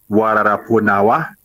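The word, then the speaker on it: Wa lala po nawa: You say Wararaponawa. Waneme. Wararaponawa. Say it again. Wararaponawa. Wararaponawa, or you say For Nawa, or you say Nawa, and they answer My the brother, reply is yeah.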